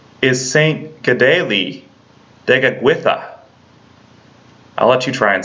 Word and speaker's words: Kateri Tekakwitha: of the Saints one we normally call saint kateri tekakwitha but the actual proper pronunciation is saint g'day lee digging with ax I'll let you try and say that now